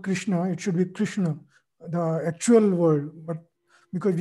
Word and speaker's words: Krishna: Krishna, it should be Krishna, the actual word, but because it's very difficult to pronounce. So like... The word is Krishna. It's not, there's no emphasis on the last syllable, because if you say